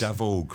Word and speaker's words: Davóg: Ik ga naar Davóg. It's a very difficult name. To pronounce it. It's an unusual name. Yes. Davóg, my mother would say.